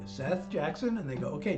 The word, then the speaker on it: Seth: Do you know how many times people have read S-E-T-H as Seeth? Seeth? Really? does B-E-T-H spell? Have you met a girl named Beef? No. So why is S-E-T-H Seef? But that's how they pronounced it.